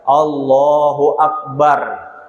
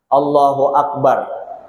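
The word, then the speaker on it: الله أكبر: Dianuakan, dipasih-pasihkan, pokoknya bar ro di ujungnya dibaca tafkhim, dibaca tebal, Allahu Akbar, bar, nah, Allahu Akbar.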